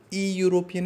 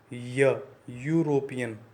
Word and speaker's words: European: EU, E and U both are vowels, but when we are pronouncing it, the pronunciation is something different. हम लोग इसको ई यूरोपियन नहीं पढ़ रहे, हम लोग इसको पढ़ रहे हैं य यूरोपियन.